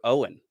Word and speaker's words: Eoghan: Didn't know that Eoghan was Irish for Owen.